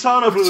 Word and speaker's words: sonos: hanging around so these sonos it's the same number of syllables as sonar yeah they uh extend